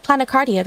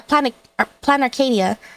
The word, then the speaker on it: Planarcadia: I said Planicardia, right? It should be, yeah, Planarcadia. Because specifically... My assumption is that maybe Planner? But the thing that stands out to me is Arcadia, which is like a place of paradise. But I pronounced that part incorrectly. That's true. It would be Planarcadia.